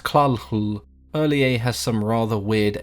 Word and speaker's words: Cthulhu: similar to how Cthulhu is supposed to be pronounced claw Lu earlier' has some rather weird alien pronunciations to